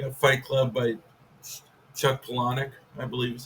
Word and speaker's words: Palahniuk: You got Fight Club by Chuck Palahniuk, I believe is how you pronounce it.